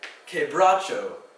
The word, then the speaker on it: quebracho: And then quebracho has a Q-U-E for the K sound.